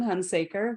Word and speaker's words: Hunsaker: I hope I've pronounced your surname, your last name correctly. Yes, Hunaker.